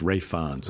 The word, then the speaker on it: Ralph: other day I know I'm not pronouncing Ralph fin or ra ra Rons rayons I knew I KN well it doesn't look like that like ralis but it's rayons ra FS so he